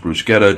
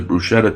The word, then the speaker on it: bruschetta: does Bruce Bruce Quetta by the way it's pronounced bruschetta just FYI if somebody says bruschetta to be honest with you it's fine it's